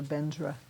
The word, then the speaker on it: Vajra: It's just the way that most Tibetans pronounce it. The most Tibetans pronounce Vajra Bendra. Now, bodhisattva learned was the Buddha Purification. Right. What is Benja? Benza is Vajra.